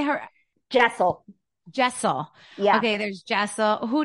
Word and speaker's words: Jessel: Jessel Jessel how do you say her Jessel Jessel yeah okay there's Jessel who do you who